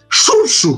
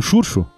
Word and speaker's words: Xurxo: E em galego, aí eu vejo Xurxo, cara, X-U-R-X-O.